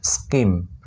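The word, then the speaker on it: scheme: তারপর এস সি এইচ ই এম ই, স্কিম, স্কিম, এখানেও H silent, ঠিক আছে।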